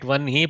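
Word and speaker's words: वह्नि: We pronounce it Vanhi, but we write it Vahni.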